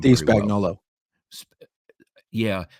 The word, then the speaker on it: Spagnuolo: Steve Spagnuolo. Well. Yeah, probably really in Italy, it's Spagnuolo.